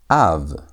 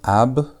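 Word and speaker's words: אב: The first one we have av. A. Notice it's not ab, it's not ab, it's a.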